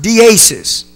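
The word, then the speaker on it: δέησις: That word supplication comes from a Greek word which is pronounced deesis.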